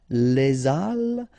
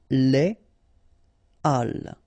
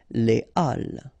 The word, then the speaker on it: les halles: So in that case, you shouldn't make the liaison, so you shouldn't say les halles, but you should say les halles. Okay, les halles.